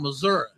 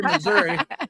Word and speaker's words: Missouri: You gotta say it right, because they're from Missouri. You don't say Missouri, say Missouri. I'm from Missouri.